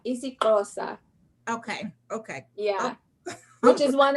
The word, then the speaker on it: Xhosa: How do you pronounce it? Xhosa. Xhosa.